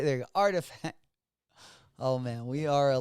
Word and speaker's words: RTFKT: I can't even uh the rtfkt um those of you guys that that can pronounce it let me know in the chat right artifact that's it there artifact oh man we are